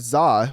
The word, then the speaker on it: Z-A: So anyways, then we got into Pokemon Legends as far as ZA, which a lot of people are saying that, you know, is either ZA or Z-A, depending on how you want to pronounce it.